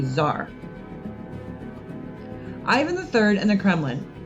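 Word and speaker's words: tsar: word caesar and that t-s-a-r is pronounced with a z zar ivan iii and the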